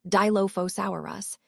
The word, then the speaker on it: Dilophosaurus: Now, moving on to the name, Dilophosaurus is pronounced Dilophosaurus, and it means two crested lizard.